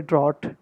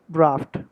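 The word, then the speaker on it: draught: ड्राफ्ट, travelers from outside the United States or the UK might say drought, but the correct pronunciation of the British word is draft.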